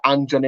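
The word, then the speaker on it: Anjorin: know it's good to see the youngster uh anjon in and that's how it's pronounced uh getting a run out of the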